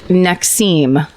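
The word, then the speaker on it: NXIVM: a cult great I almost joined a cult next seem that's that's how you pronounce it next CEO that's the branding one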